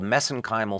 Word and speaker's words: mesenchymal: Yeah, so I know I get criticized for that, but that's a little bit of an Irish accent on my part.